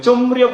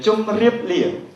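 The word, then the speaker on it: ជម្រាប: 그러나 한국어 법칙은 이렇게 미음하고 리얼 만나면 리얼은 니은으로 돼버리죠. 좀리업이 됩니다. 그래서 중간에 미음을 붙이는 이유는 이렇게 니은이 시키시면 안 됩니다. 원래 발음은 좀 리업입니다.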